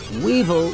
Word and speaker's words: weevil: than female peacocks Weevil Weevil rhymes with evil and that's what many